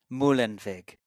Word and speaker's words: Muehlenweg: you say it for the audience mulen mulen viig you yeah it's subtle it's so unique I